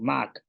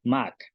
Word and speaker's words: máak: es un ejemplo con Mac, persona. Entonces, este tiene un tono alto y significa persona. Y la pronunciación es Mac, persona.